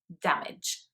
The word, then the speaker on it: damage: tell me your age and people might think that those words are pronounced uh in the same way so man age or damage but actually they are just pronounced with a very short sound at the end which sounds more like itch um so it's manage damage rather than manage damage okay and the final